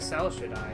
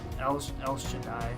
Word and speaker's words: El Shaddai: But this is El Shaddai, I believe, is how you would pronounce it. Yep. It looks like Cell Shaddai. It's not. It's El Shaddai.